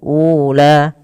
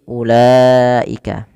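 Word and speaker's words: أولئك: Nah, wau yang biasa di ada wau bila dia berharakat di atasnya seperti ini, ini wnya dianggap tidak dibaca ya langsung kepada huruf la. Jadi bukan ula tapi ulaika.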